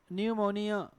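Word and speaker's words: pneumonia: फिर क्या लिखा है न्यूमोनिया इसमें क्या है भाई लेटर पी साइलेंट य पर तो देखि न य उ मौ निय थ थ य न्यूमोनिया हम क्या बोलते सेे न्यूमोनिया फिर गलत हो जाता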